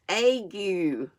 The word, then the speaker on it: ague: sorry I'm wiggling around I figured out how to say this word I looked it up before I got out and it's AG you know you a view